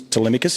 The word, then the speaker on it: Telemachus: so funny is because his name does get pronounced a little bit wrong, but it is Telemachus, is how he's pronounced his name.